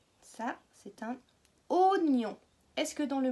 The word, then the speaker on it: oignon: Ça, c'est un oignon. Est-ce que dans le mot oignon, on entend le son O? 2 syllabes. Oignon. Oui, au tout début.